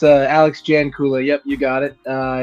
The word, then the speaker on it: Jancula: Yeah, it's uh, Alex Janula.